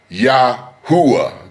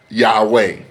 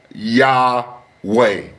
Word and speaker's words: Yahweh: But the most accurate name today, ladies and gentlemen, is Yahweh. It is Yah way.